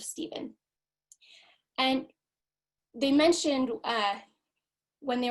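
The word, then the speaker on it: Stephen: They called him Stefan instead of Steven.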